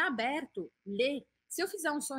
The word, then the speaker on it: le: o lá de cima, a pronúncia é assim, ó. Lê. Tipo o verbo ler, tá? Lê, lê, lê. Então, o que, que você tem que perceber? Que aqui o som é fechado, le, e aqui o som é aberto, lê.